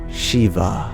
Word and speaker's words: Shiv: perfectly pronounce it like Shiva. It would be more like Shiv. The E sound becomes I, and the final A is dropped, so it becomes Shiv. Shiv.